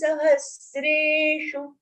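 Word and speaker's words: सहस्रेषु: Manushyanam sahasreshu. Make sure that at the end of the charan, if the akshar is rasva, short pronunciation, don't elongate it, even to fit into your life. Sahasreshu. Shu is short.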